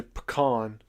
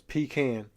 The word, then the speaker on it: pecan: There's no O in there for all of you who say pecan. It's pecan.